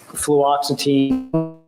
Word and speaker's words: fluoxetine: Now, fluoxetine, am I pronouncing that right?